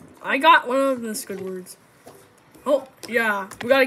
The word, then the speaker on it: Squidward: no not yet actually it's not squish squ it's Squidward okay it's hard how